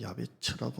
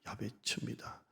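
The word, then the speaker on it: יעבץ: 이 두 구절 야베스는 히브리 발음으로 하면 야베츠라고 합니다. 그대로 풀면 고통입니다. 고통, 괴로움, 아픔 이런 뜻을 갖고 있습니다. 야베츠입니다.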